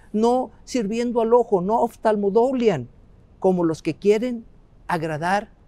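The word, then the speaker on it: ὀφθαλμοδουλίαν: Déjenme tratar de pronunciarla en el idioma original, sería oftalmodoulian, oftalmodoulian, y sería una palabra compuesta de oftalmos, que tiene que ver con el ojo, con la vista, y doulian, otra vez,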